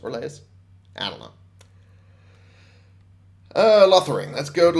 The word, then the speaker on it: Orlais: journey to Orlais okay or Laius rather it's pronounced relays adalah loitering let's go